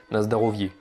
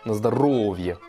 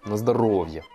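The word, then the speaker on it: на здоровье: Et donc le O qui est en rouge là, en gras, c'est pour dire que c'est la syllabe sur laquelle vous allez accentuer. Donc vous dites pas comme un Français, il dirait Nazdarovier. Non, non, on dit Nazdarovier. On accentue bien sur le O.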